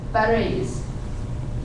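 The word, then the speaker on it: Phares: Then we get to Perez, and it becomes Pere. It becomes Perez. Because the P-H-E-R-E-S, Perez, we have pa, we prefer pa to fa in these opening positions.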